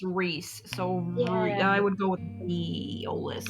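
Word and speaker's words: Rhys: met some flaming Sunbirds I know you can pronounce r h Ys Reese so I would go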